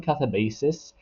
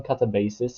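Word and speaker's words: Katabasis: I'll call this one Catabasis. I know there has been some um issues with the way the title is meant to be pronounced, but I'll call this one Catabasis.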